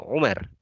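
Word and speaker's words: عمر: Kalau tidak ada alifnya di sini, maka dibacanya Umar. Tapi kalau ada alifnya di sini, maka dibacanya Ammar.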